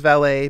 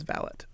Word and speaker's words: valet: shows it here uh preferred pronunciation is valet but alternate pronunciation is valid okay maybe it's a